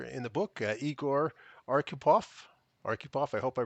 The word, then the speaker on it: Arkhipov: Arupov, I hope I pronounced your last name properly.